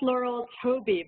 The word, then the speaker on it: Laurel Touby: It's pronounced Laurel Touby, by the way. Touby, okay.